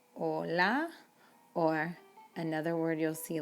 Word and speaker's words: hola: careful with that but you know that hola is pronounced without the h so build on what